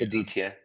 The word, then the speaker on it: Aditya: Aditya or Aditya? It's Aditya. Yeah.